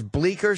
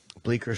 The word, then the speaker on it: Bleecker: C is, the C is silent.